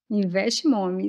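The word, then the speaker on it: Invest Mommy: Se eu pronunciar errado, você me corrige. Invest Mami, correto? Investe Mommy, isso mesmo.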